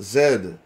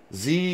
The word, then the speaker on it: Z: It's pronounced Zed. Z when you're aged 3. Well, here in America, where Jesus lives, we say Z. Because it's only one letter.